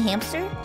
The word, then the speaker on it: hamster: Yeah, probably hamster. Right? Hamster, baby? Oh, oops, where oops, is that oops, P coming from? Oops, oops, I thought there was a silent P in hamster.